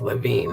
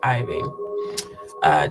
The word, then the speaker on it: Levine: now claimed that Jimmy, I think it's pronounced Levine. Why does that look like a capital I? Could have sworn his last name was Levine, not Iving.